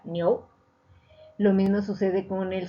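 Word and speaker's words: 牛: Es decir, se pronuncia vaca, niou.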